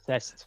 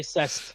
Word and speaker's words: CEST: right now we will you said it wrong it's CEST CEST yes that's sest CEST you have to say cess okay it's cess what the [ __